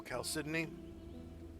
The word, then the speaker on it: Chalcedony: Oh, Chalcedony? Sydney, yeah. That's how you pronounce it.